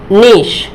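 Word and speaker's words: niece: जैसे देखिए, ये नीश, क्या होगा? नीश मतलब भतीजी। बहुत सारे स्टूडेंट्स इसको क्या पढ़ते हैं? नाइस पढ़ते हैं, जो कि बिल्कुल गलत है।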